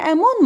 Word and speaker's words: Amun: And hidden mysteriously and separated from the world in his capacity as Amun. And the correct pronunciation of the name of the god is not Amon, as is known.